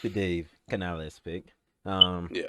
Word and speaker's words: Canales: And Dave Canales. Obviously I said earlier the culture has shifted. Nope, you said it wrong. Oh, Dave Canales.